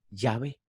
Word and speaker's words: Yahvé: Los hebraístas, ahora tome atención, los hebraístas han llegado al acuerdo general de que la pronunciación original debe de haber sido ¿qué? Yahvé.